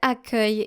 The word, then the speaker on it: accueil: Now make sure that you pronounce it this way. Accueil, such as the verb accueillir.